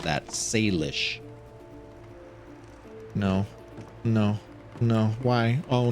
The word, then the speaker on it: Salish: by the native tribes, which would be the Salish people if this were really where they say it takes place. Sorry, I mispronounced that. Salish.